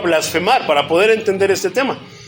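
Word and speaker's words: βλασφημία: Gloria a Dios Entonces del griego blasfema con acento en la i blasfema es la palabra griega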